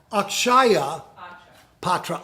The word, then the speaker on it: Akshaya Patra: Also, back down here to the bottom, this is Akshaya Patra. Akshaya, pronounce. Syllables, Akshaya. Akshaya Patra.